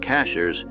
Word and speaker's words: Cashiers: Since then, it has been spelled cashiers, but pronounced cashers to this day.